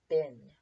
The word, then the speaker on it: been: Down here, the tricky part of this word is that it should sound like you're saying bean, but the EE is basically pronounced like a short I, bin.